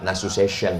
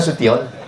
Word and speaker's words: Nasution: Tulisan tion itu membacanya mesti pakai huruf shin, national. Makanya ada orang menyebut yang terhormat Bapak Abdullah Nasution gitu. Pokoknya Nasution.